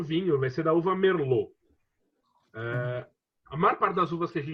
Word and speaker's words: Merlot: Então, apesar da uva se escrever Merlot, a gente vai ler Merlot. A palavra em francês tem T sem vogal, depois o T é mudo.